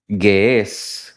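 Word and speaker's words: Ge'ez: Porque la Biblia etíope o Biblia Gués, como se pronuncia eh eh justamente esta esta lengua o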